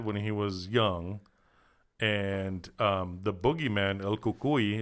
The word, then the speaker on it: El Cucuy: young, and the boogeyman, El Cucuy is how you say it in Spanish, came and stole his nipple.